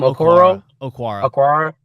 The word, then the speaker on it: Okwara: Okwara.